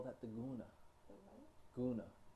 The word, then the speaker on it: guna: Guna.